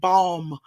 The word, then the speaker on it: balm: And not balm, but balm rhymes with palm, BALM.